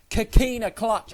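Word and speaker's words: Coquina Clutch: Kahina clutch. I can't fucking say it properly. Kahina clutch.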